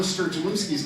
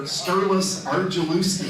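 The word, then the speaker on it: Sturgulewski: And he also would mispronounce Arla Sturgeluski's name. He would call her Sturlis Argeluski.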